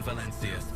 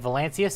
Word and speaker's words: Valancius: They seem to switch in the pronunciation of Valancius. Sometimes the C is hard like K, sometimes like a Z.